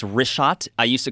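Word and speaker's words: Richat: Yeah, in the first couple, I just want to say it's wrist shot. I used to call it Rickot. I was mispronouncing it.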